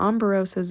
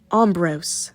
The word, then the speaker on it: Ambrose: became a constellation however Amber Rose's expression was weird I am Ambrose not Amber Rose oh I got his